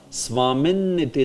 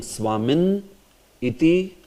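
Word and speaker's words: svāminn iti: But actually this is pronounced together only. Swamin Niti. Instead of saying Swamin Iti Namine. Instead of saying, you should say Swamin Niti Namine. Whenever you see a split that is being done of this consonant, so you pronounce it together.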